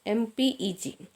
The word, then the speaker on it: MPEG: inside it dot MPEG a file with MPG file extension pronounced as MPEG is ampg moving pictures